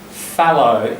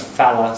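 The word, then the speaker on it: fellow: And it's fallow, F-E-L-L-O-W, isn't it? That's the sort of standard. It becomes falla, sometimes spelt with an A instead of an E-R.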